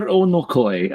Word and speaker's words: Onokoy: And to have us discuss this, we have Vladimir Onokoy, our good friend of the channel and AK expert.